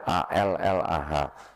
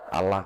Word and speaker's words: Allah: Ya, A L L A H. Saya bacanya di Bible Allah, karena enggak ada tasjidnya, Bu. Jadi saya baca Allah gitu. Bukan Allah gitu.